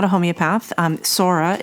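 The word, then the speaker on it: psora: not a homeopath um Sora is spelled PS s o r a and the soric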